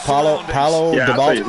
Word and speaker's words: Paulo Dybala: What I want to know is, where did Paulo Dybala go? Is that how you pronounce that? Paulo Dybala? Yeah, you actually said it right.